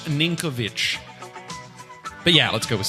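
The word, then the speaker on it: Ninković: player of the year so his name is sinkovich Milos ninkovic but yeah let's go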